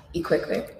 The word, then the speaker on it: iQweqwe: So moving on from this, your current exhibition here at Southern Guild is pronounced iQweqwe. iQweqwe. I haven't got the click down.